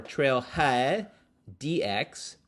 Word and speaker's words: TrailheaDX: were there so it's the third year it is spelled trail head x or trail head dx the capital d in x is pronounced trailhead